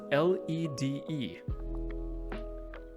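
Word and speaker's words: lede: Correct spelling is lead, spelled L-E-D-E. L-E-D-E. Not to be confused with lead used in lead type and such.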